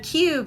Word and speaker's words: cube: this is the cube that's that silent e to make the long you sound now cube so what sides when